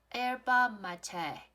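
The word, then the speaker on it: yerba mate: 我们看到了这一个是马黛茶，它的发音是 Yerba Mate，是一个西班牙来自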